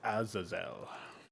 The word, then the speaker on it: Azazel: even a biblical scholar it's pronounced azazel idiot